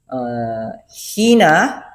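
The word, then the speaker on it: ἵνα: hina hina oh my Hina pronunciation is hina hina hina kjv written it as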